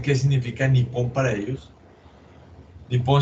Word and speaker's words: Nippon: Nippon se escribe con doble P. Nippon.